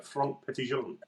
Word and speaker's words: Franck Petitjean: I think you've got to put a French accent on it just to make it sound a bit more French.